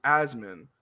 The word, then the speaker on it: Asmongold: So it's Asmon. So his name sounds like a goddamn freaking breathing condition. Yes, it sounds like asthma, which I have.